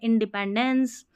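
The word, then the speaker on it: independence: फिर यहां पर देखिए आई एन इन डी ई डी पी ई एन pan dense in deepen dense देखिए ये पेन फिर ये डेंस बहुत इजी है इंडिपेंडेंस इंडिपेंडेंस ऐसे तोड़ना ठीक है फिर देखिए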